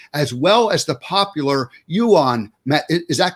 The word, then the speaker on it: Yuen: well as the popular yuan mat is that correct yuan you win there's two pronunciations my last name smythe smith irish yeah but uh it's the u.n dr you win okay okay brad smythe